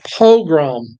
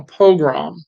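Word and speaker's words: pogrom: different ways I it's it sounds a lot like program but it's not it's a different word Al together it's a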